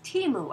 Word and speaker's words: Temu: said that she has learned that the correct pronunciation is Teemu after all I think so many of us